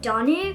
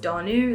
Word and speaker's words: Danu: my gosh, are you Danu? For some reason, a lot of people in America think my name is pronounced Danu. It's Danu, but she was like, are you Danu?